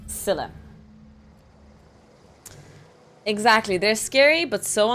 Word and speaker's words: Scylla: think I've been pronouncing it Skyla. Scylla.